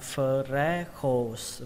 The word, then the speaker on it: freckles: Từ tiếp theo các bạn đọc là freckles và thêm âm s các bạn nhé. Ở đây trọng âm của nó rơi vào âm đầu tiên fre, fre và xuống giọng âm khổ.